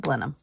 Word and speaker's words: Blenheim: there's blenham ginger beer but it's called Blenheim they pronounce it blenham I kept thinking we